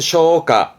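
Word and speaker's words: 消化: 발음은 쇼가, 쇼가.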